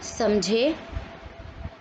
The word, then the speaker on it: समझें: अगला शब्द है समझे समझें। उच्चारण में अंतर, समझें। तो बिना बिंदी है, सेम कॉन्सेप्ट, बिंदी के साथ है, बहुवचन प्लूरल या